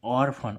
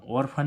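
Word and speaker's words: orphan: पी एच ए एन ऑर्फन ऑर्फन means क्या होता है अनास देखो इसमें पीच बीच में क्या आ रहा है पीएच तब भी इसका उच्चारण क्या निकल रहा है फा ठीक है तो गाइस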